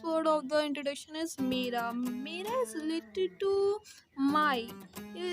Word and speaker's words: मेरा: Because if you say not mera, you say mehra, so it's not good because mehra is a surname in India.